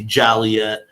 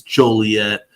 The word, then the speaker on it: Joliet: wrong on purpose obviously Joliet is not how it's pronounced it's Joliet Joliet Illinois make sure you pull